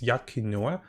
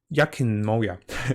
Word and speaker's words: Enkanomiya: I can't pronounce the name. It's Enkanomiya.